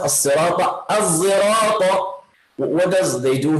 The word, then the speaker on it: الصراط: So you pronounce صاد with a little bit of taste of the letter zay. So it's a mix of sad and zay.